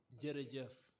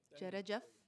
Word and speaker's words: jërëjëf: How do you say thank you? Jërëjëf. Jërëjëf. Jërëjëf. See? Jërëjëf.